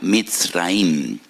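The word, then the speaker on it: מצרים: Y recuerdan la aflicción, la amargura de la esclavitud, porque la palabra Egipto en hebreo se pronuncia Mitzraim, y en hebreo hay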